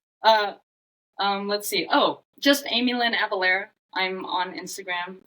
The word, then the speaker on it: Amielynn: Here's how you spell it, and it's Amielynn, not Amy. You can please have that third syllable there.